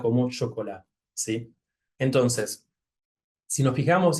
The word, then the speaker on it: chocolat: Por ejemplo, en francés, esta palabra, la CH de esta palabra, se pronuncia chocolat, como sh.